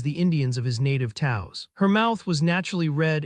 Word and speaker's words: Taos: "Taos," Rex said. "Rhymes with house or mouse or, well, hello."